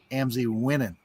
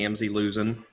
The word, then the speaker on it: Amzie Wenning: And he is our friend, and we pronounce it Amzie Wenning. Mm-hmm. Thank you, and thank you for not calling me Amzie losing.